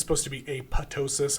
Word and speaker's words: apoptosis: pathway is something called apotosis um spelled apoptosis and some people say apoptosis um I think it's supposed to be apotosis I think the second p is silent uh but apotosis is